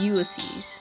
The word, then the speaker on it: Ulysses: It's Ulysses.